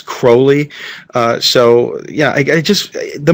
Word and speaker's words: Crowley: And that is how you pronounce her name, the name. It's not Crowley, it's Crowley.